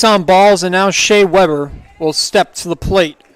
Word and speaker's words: Weber: Number 5, Shea the Grillmaster Weber. That was pretty good by the PA announcer, the Grill Master, because he's the same way you pronounce Weber Grills, basically.